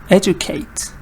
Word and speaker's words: educate: This word, we put the stress on the first part. Educate.